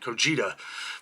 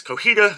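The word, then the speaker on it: Cotija: I was pronouncing it Cojita, but yeah, it is Cojita, as the J has an H sound.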